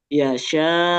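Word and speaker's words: يشاء: Nah, berarti di sini bacanya ee hamzahnya kita tidak baca u, tapi gimana? dimatikan karena dia posisinya wakaf. Bacanya gimana? Yasya.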